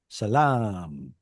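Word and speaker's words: سلام: Um can anybody think oh how do you say shalom in Arabic? Shalom. Salam. Salam. Salam. There's a long ah sound.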